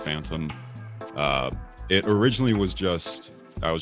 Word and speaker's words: PHTNM: So I started a different alias that in all caps is PHTNM. It's pronounced Phantom.